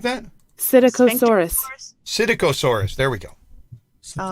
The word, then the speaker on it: Psittacosaurus: Psittacosaurus.